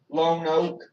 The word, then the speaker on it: Lonoke: Lone Oak.